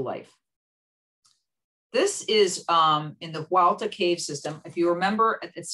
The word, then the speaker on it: Hualta: This is in the Hualta cave system. If you remember, it's spelled H-U-A-L-T-A in the Yucatan.